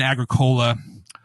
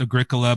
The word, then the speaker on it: Agricola: stays the same champion in midgard and then Agricola I know it's pronounced Agricola but a southerner is called Agricola love Agricola